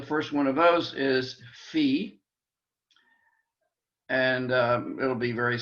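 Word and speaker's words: phi: a line through it fee our f sound p h i fee and maybe it helps to remember the dog that the dog's name i always do fifi i used to hear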